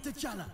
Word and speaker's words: T'Challa: How do Sonic, you say my you name? failed me! T'Challa. You failed me! T'Challa, T'Challa. That's how you say it?